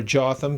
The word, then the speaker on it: Jotham: In between them is a king known as Ytham or Jotham. Some people will call just how depends on how you pronounce the J.